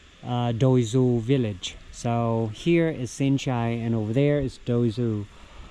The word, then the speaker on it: Sinchai: This is located about 10 kilometers away, and the name of it is Sinchai. It's spelled SINCHAI.